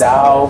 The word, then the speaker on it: Tso: So anyway, my food just came here, and I got the General Tso's chicken, which is spelled T-S-O. So it's Zao, So, Andrew's the man Tao's, and Andrew just walked over to another table and got us some siracha.